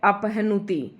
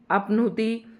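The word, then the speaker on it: अपह्नुति: अपहनति अपनुति इसे बोलेंगे तो आप है को छोड़ देंगे लेकिन अगर आप उच्चारण भी वैसे ही करें जैसे ही शब्द लिखा हुआ है अपनुति इस तरीके से बोलेंगे और ऐसे ही आप लिखेंगे इसके बाद अगला शब्द है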